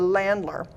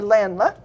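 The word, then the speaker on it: Ländler: that have been practicing a dance called the Landler. Thank you, Ross Halverson, the German club president, or the German club, the high school German teacher who's taught me the correct pronunciation of that, the Landler.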